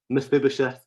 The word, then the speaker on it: Mephibosheth: about a man called mephibosheth if you heard me right i didn't make a mistake i said it right miss bibisheth who was the son